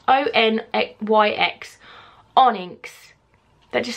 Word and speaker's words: Onyx: I can never pronounce that word. Onyx. O-N-Y-X.